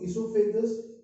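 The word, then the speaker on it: oesophagus: Food from mouth to इसोफेगस या ओसोफेगस, actually ओसोफेगस नहीं बोलते हैं, यहाँ ओ साइलेंट हो जाता है, with the movement, which movement, पेरिस्टैटिक movements.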